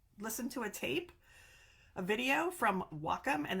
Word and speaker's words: Wacom: need it for the Wacom. I looked it up. I listened to a video from Wacom, and they said it rhymes with Rock'em, which is not a word either, but like Rock'em Sock'em Robots.